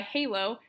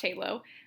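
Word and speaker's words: HaLow: 802 point 11 aah or Wi-Fi halo I think it's pronounced a low is another future technology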